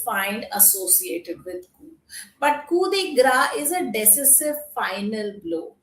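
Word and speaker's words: coup de grâce: So so that is a kudigra. The pronunciation is gra not it's not called kd grace. It is called kudigra.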